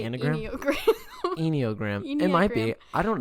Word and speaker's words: enneagram: talk about that yeah how do you pronounce that i think it's anagram anagram i always say eniogram it might be i